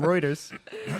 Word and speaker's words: Reuters: This comes from Reuters.